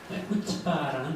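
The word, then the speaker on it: chutzpah: 뭐 CH, UT, P, AH 앞에 C를 발음하지 마세요. C가 묵음이에요. 그럼 발음이 한결 쉬워지죠? 후치바라는 단어입니다.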